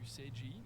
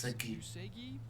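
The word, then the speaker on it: Uesugi: I think I've been saying Usegi. I think it's Usegi Kenshin.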